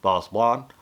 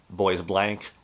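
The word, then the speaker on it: Bois Blanc: on an island called French pronunciation the best I can boss blonde or they call it um boys blank or the biggest nickname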